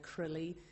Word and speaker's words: CRLI: we are doing well I never quite know how to pronounce CRA Li and I noticed people say different sorts of things some people say Crilley which sort of makes